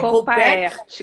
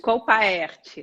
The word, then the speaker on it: Colpaert: Como que pronuncia o seu sobrenome? É Colpert? Colpaert. Colpaert. Não abrevia, é Colpaert.